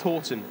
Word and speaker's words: Howton: from Horton number 49 spelt Howton pronounced Horton so we've been told